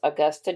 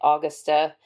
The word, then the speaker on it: Augusta: a Southern accent she didn't know how to pronounce Augusta Georgia she kept pronouncing it austa in all three books and I could not